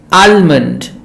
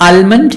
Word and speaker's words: almond: Now often people say salmon, it's a kind of a fish, and almond, it's a nut, but it is not almond, it is almond, and not salmon, it is salmon, yolk, bum, salmon, almond, talk, calf.